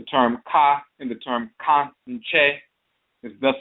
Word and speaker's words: Kankye: That's why when it's spelled in the orthography, you'll see it spelled K-A-N-K-Y-E, Kankye, because it's Kan, K-A with the nasal, and then Che.